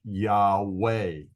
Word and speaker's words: יהוה: centuries ago, millennia ago, that consonant was called a wow and was pronounced as a W. If this is the case, then the sacred name would be pronounced Yahweh. And you have probably heard it pronounced that way because the majority of scholars believe that that's the way it was pronounced in the biblical era.